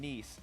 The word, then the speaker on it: Nice: But before we do that at home, if you want to watch the summer finals in Nice, not nice, how I keep mispronouncing it. Nice.